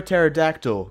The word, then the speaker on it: pterodactyl: can't you hear a pterodactyl go to the bathroom because the P is silent nah bro because I